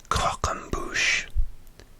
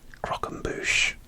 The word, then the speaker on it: croquembouche: Number 6, croquembouche.